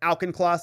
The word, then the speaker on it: Auchincloss: Auchincloss?